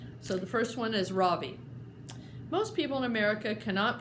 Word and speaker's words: Ravi: It's pronounced Ravi, with a soft Ra and a strong V. In Sanskrit, it means the sun. In America, people call me Ravi, with the stress on the first syllable.